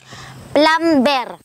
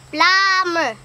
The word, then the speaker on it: plumber: Plumber. Ate, hindi naman po plumber ang basa dyan. Silent B po yun. Plumber.